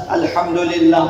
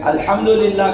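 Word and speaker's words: الحمد لله: اگر اس کی جگہ ہا کا تلفظ درست نہ کرے، مثلا الحمدللہ پڑھے ہا کے ساتھ، تو پھر معنی یہ ہوگا کہ خدا کے لیے ہلاکت ہے، نابودی ہے، بربادی ہے.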